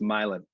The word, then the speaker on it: Milan: It's spelled like Milan. It's pronounced Milan.